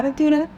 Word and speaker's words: Aventura: Aventura? Yeah, Aventura.